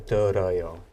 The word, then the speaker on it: 들어요: But when we conjugate it, we change the digat to real. 네. So the pronunciation is 들어요.